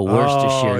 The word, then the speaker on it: Worcestershire: Oh, Worcestershire. No one gets that one so right. They have it pronounced because it looks like Worcestershire, right?